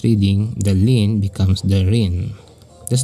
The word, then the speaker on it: 林: that the onoi here Rin is very much related to its origin it related to its Chinese origin linnn so if it is pronounced as Linn in China when adopted in Japan it's Rin and by the way